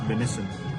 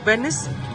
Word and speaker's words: venison: DM is venison. Venice? Venison. Venison. Venison.